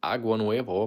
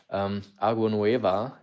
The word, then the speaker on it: Agua Nueva: A lot of people think it's Agua Nuevo, but if you had Spanish class, you will know that Agua Nueva actually translates to fresh water, and the fresh, so